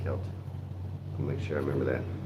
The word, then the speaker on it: Celtic: I don't know why, but they pronounce a Celtic, not Celtic.